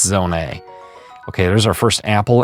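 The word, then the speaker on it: Zonai: Now, why is it pronounced zone A, you may say? Well, uh that's just the correct pronunciation.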